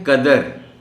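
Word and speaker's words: قَدَر: ہمیں احتیاط برتنی چاہیے۔ اب یہ ہے قدر، کاف پر زبر، دال پر زبر۔ اس کے معنی ہیں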